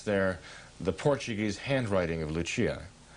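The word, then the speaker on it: Lúcia: the Portuguese handwriting of lechia of lucia i understand is the pronunciation portuguese unless they suspected that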